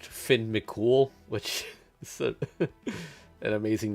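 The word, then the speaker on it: Fionn mac Cumhaill: for anyone who's unaware this guy's name is actually pronounced Finn mol which an amazing name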